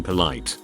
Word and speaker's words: poli: He then goes to say that they should be polite because he is being polite. Now polite in French is poli, pronounced poli.